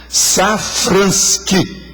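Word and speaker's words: Safranski: Agora, Safransky, do jeito que pronuncia, com KY no fim, com S. Safransky.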